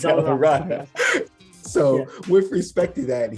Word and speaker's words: DellaRatta: revelation about who Rick DellaRatta is. And I just mispronounced his last name. Rick DellaRatta, yes. DellaRatta.